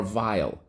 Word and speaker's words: vile: You got it, because in this case, the silent E makes the I say I.